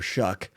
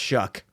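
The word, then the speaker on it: Shough: first ever start for Shuck. I don't know how that's his name. I looked up his pronunciation. Somehow it's shook.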